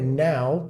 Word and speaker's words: now: E a palavra now tem esse som mais aberto, now, que lembra, tem a mesma característica das palavras how, de como, ou cow, de vaca. Now, how, cow.